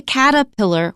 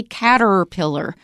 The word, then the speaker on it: caterpillar: we say surprise and we usually say caterpillar we don't say cat pillar and you notice that